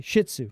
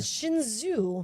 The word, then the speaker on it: Shih Tzu: What did I pronounce that? say? Shih Tzu. Sorry. You Whatever. said Shinzu.